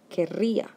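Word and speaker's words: querría: on the e and in the conditional it will be kerria now notice the double r which is very important because if you don't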